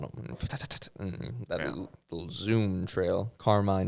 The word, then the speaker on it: Carmine: would you spell that Carmine Carmine Santino Infantino car car like car and then mine like mine then infant with an